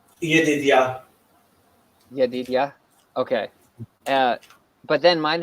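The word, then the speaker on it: ידידיה: I always say Jedediah, but I know that's not right. Yedidia.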